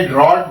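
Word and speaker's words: draught: eight ए ड्रॉट spelling का ध्यान रखना है आपने ड्रॉट डी आर ए यू जी एच टी यह ड्रॉट है अगर हम इसको लिखेंगे ड्र्राउट क्या पढ़ेंगे ड्र्राउट बड़े ऊ की आवाज आएगी इसमें इसमें बड़ी ऊ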